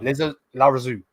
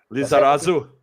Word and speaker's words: Lizarazu: Larazu. Lizarazu. There you go.